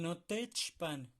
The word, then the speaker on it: notechpan: El notechpan se va a pronunciar un poquito más rápido.